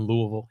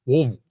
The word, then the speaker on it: Louisville: they'll be back in Louisville yeah how do you say it's not Louisville it's Louisville Louisville louville thanks SE next question